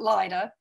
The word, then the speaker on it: Lydia: grandmother was lydia donahue you mentioned leida they pronounced it lyda lived on a ranch